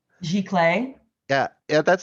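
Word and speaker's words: giclée: i i just learned how that word is pronounced g clay yeah yeah that's spelled g-o-i-c-e-e right yes yes i've been saying lycee um i would also also recommend fine art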